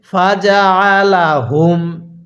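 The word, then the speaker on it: فجعلهم: পড়বো ফাজা আলা হুম আপনি যেখানেই আইনটা পড়বেন সেখানে গলার মধ্যে চাপ দিয়ে পড়বেন তাহলে আইনটা সহি শুদ্ধ উচ্চারণ হবে তাহলে কিভাবে পড়তে হবে ফাজালাহুম এরপরে কাফ জবর কা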